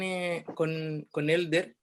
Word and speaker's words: Helder: que mi nombre no lo pronuncien como J, ¿no? Así como en chileno no, por la H muda, Elder.